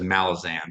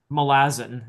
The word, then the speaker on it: Malazan: So, it's going to be more like um like the Malazin. By the way, the audio book narrator says Malazan.